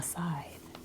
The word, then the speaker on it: scythe: In American English, a scythe is pronounced with a long I sound and a TH sound.